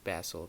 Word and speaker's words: Basil: basil in one shot well i should be saying basil because that's how it's pronounced in the movie but um i'll work